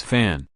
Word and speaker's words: Fan: His last name was Fan, which has the same pronunciation as the Fan in Fangian.